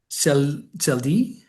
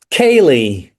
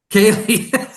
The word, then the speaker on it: ceilidh: hmm And you recently starred in the North American premiere of, and I'm definitely going to get this name wrong, Celdi? Kaylee. Kaylee.